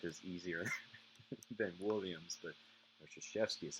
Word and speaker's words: Krzyzewski: His first press conference, you have to say, "My name is Mike Krzyzewski." His Polish name, it's spelled Krzywski.